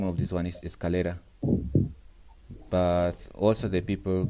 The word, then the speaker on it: escalera: one that the name of this one is escalera but also the people call this one gradas they call we have people that pronounce in many different ways grada scaleras but i think it's better that you say